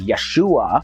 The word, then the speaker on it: Yeshua: probably unable to pronounce his Hebrew name which was yahshua also pronounced as Yeshua but when the name